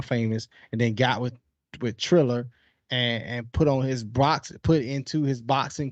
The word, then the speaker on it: Triller: I was calling him Thriller up until I had to spell it. Triller.